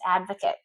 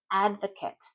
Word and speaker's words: advocate: Next one is devil's advocate. Devil's advocate. And listen how I'm pronouncing advocate. Advocate. It's not advocate. Advocate.